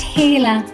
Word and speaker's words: Gila: lizards in the world it is spelled g i l a but pronounced "heela" Chain King Snake they